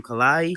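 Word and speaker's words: Kehlani: Kalani. Kalani.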